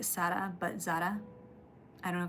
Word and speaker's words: Sarah: Yeah, so one of my cousins, her name is spelled Sarah, like S-A-R-A-H, but it's Sara, so I was wondering if it was similar.